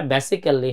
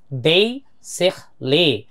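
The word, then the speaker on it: basically: বাংলাদেশের এই শব্দটা অনেক বলি যে বেসিক্যালি বেসিক্যালি আই এম a doctor so এই শব্দটা বেসিক্যালি হবে না এটা নেটিভরা বলে হচ্ছে বেইসেলি বেইসেলি ওকে এছাড়া স্পিকিং ম্যানারস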